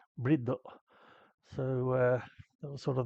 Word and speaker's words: Bride: about us calling them brie seats. Um, the main reason we did that is because bride is not the correct pronunciation. In Japan, they pronounce it briddo.